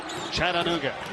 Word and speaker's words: Chattanooga: 4 syllables. That's right. Chattanooga.